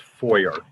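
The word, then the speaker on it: Feuer: It's pronounced foyer. Foyer. Like the foyer of a house.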